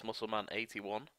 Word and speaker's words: MuscleMan81: I have just realised I pronounced his name wrong to start off with. It's MuscleMan81.